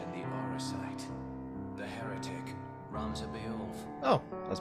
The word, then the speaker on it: Ramza: The heretic, Ramza. Oh, I was pronouncing that right, too.